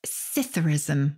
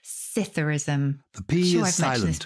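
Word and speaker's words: psithurism: heard of and that's scytherism with the silent p scytherism as in swimming pool how do you spell this word p-s-i-t-h-u-r-i-s-m and it is simply like saucerus which has definitely been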